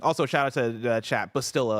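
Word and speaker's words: Bastila: Bastilla, I believe, was what chat told me is how to pronounce it.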